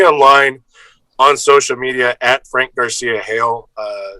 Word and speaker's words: Garcia-Hejl: You can find me online on social media at Frank Garcia-. It's spelled, and that's on Twitter and Instagram.